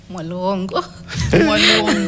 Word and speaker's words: Mwalugongo: written as Wally Malongo how is it pronounced malongo malongo So start with okay.